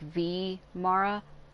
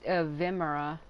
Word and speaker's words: Vimara: vimara like vimara she's she's separating the the vi from the M like V Mara I I used to say vimora but I guess maybe I've been saying it wrong just be sure